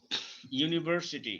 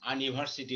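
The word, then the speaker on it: university: তারপরে দেখো ইউনিভার্সিটি, ইউনিভার্সিটি ইউ এর উচ্চারণ এখানে ইউ হয়ে গেছে, এখানে কিন্তু ইউ হওয়াতে এখানে কিন্তু আর আ নাই।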